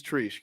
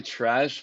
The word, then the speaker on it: Treash: asked this before we started recording it is trish correct it's actually trash but honestly i don't know it's like that's